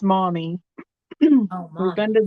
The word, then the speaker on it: Maumee: And that one's pronounced mommy.